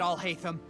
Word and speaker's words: Alhaitham: Shut it, Alhaitham!